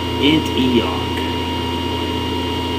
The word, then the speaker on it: Antioch: And our first stop on our highway of doom is, I think it's pronounced Antioch, the Black Diamond Mines.